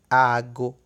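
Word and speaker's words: aago: Ago com licença só tem um A e pronuncia-se diferente. Com licença pronuncia-se ago. E relógio, ou a referência a horas, pronuncia-se ago, com 2 As.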